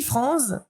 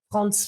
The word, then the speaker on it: Frantz: d'accord, donc le petit Franz, parce qu'on prononçait Franz, alors ça m'amuse toujours quand les gens disent Frantz Fanon, etc. Non, c'est ici en Martinique, vous êtes bien d'accord, on prononce Franz.